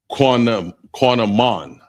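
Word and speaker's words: קנמון: The next one is cinnamon, and it's pronounced quanamon, and that's spelled Q-A-N-A-M-A-N.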